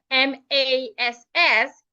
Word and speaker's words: mass: Well, the second word, M-A-S-S, is rightly pronounced mass. Take note that the letter A there has a long sound.